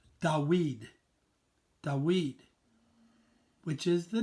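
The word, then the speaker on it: דוד: we D W D which in Hebrew is pronounced da weed the weed which is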